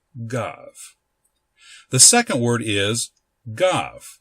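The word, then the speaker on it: גו: of a syllable but as a v sound when it is at the end of a syllable such as it is here in the word gov. So this word is pronounced gov.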